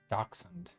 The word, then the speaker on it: dachshund: Dachshund.